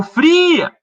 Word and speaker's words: fria: Você vai chamar alguém no portão. Ô, fria! Então é o i, a vogal tônica. Então é fri a sílaba tônica.